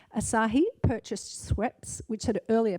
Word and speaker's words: Asahi: beverage giant giant ASAS I can't pronounce that asashi ASA Asahi thank you Glenn Asahi purchased sweps which had